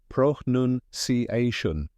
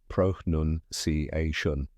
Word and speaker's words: pronunciation: Next, none, as in none, none.